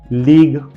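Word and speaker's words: league: you silent जाता है उसके एग्जांपल से टंग लीग कलीग एंड प्लेग अब ध्यान से देख सकते हो लास्ट वर्ड यई है यू का प्रोनंसिएशन नहीं किया गया है मैं सारे वर्ड्स एक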